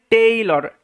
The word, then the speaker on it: tailor: এটার উচ্চারণটা হচ্ছে টেইলর, টেলর নয় কিন্তু।